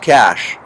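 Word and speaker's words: cache: semi most definitely okay so c-a-c-h-e is pronounced cash cash cash okay so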